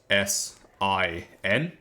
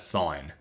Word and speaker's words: sin: Now this first one here is pronounced as sign not sin sign s.